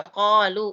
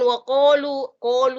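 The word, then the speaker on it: قَالُوا: Jadi dia berada di sini, qalu wa qalu. Jadi bukan wa qalu, salah. Qalu. Jadi sebutannya qalu.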